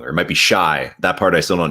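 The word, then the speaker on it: Shai: And then yesterday, I mentioned this on podcast today, but yesterday's podcast, I mentioned Shea Gilgeous-Alexander's name wrong, or it might be Shy.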